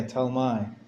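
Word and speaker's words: Ptolemy: he was T yeah t my or P me without the P the silent p t my T me what kind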